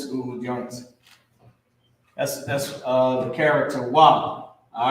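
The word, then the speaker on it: וְ: Wa at the beginning of a root word. All right, it's pronounced wa.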